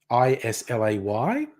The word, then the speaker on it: Islay: yes it's a yeah Scottish Gaelic word which is why it's not pronounced the English way is lay it's Isla yes I